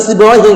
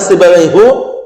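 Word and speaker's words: سيبويه: Itu juga sibawaihi, enggak ada sibawaihu wala sibawaiha.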